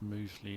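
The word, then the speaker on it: Mousley: Moosley is out there, and Rew takes a single to move to 41. He's pronounced Moosley now, is he?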